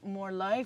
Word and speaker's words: Morlaix: We are in Morai, France. It's spelled M O R L A I X.